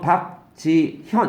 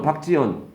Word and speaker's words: 박지현: 거 상식으로 알아 놓으라고요 박지연 이렇게 발음한다는데 또박또박하면 박지현 이렇게 할 텐데 빨리 발음은 박지연 ㅎ 발음한 거야 안 한 거야 이렇게 된단 말이야 그러니까